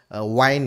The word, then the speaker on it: Wynn: Kalau kita lihat di sini, analis pasar kripto James Wynn ya, Wine ya bacanya, baru-baru ini membagikan pembaruan